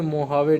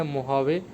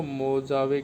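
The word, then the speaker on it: Mojave: अब ये जे को है प्रोनाउंस करते हैं मोहावे, तो कहाँ पे है ये? ये है यूनाइटेड स्टेट के अंदर, नॉर्दर्न अमेरिका, सब ट्रॉपिकल डेजर्ट है ये। और मोहावे, ठीक है, ये मैक्सिकन में बोलते हैं इसको, मोजावे की प्रोनाउंस बोलते हैं मोहावे।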